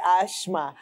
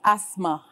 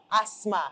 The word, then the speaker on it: asthma: start off by asking what is the correct pronunciation of that word I hear some say ashma I hear some say asthma so what exactly is the right pronunciation s t h m a is pronounced asthma asthma asthma a s m a it's pronounced asthma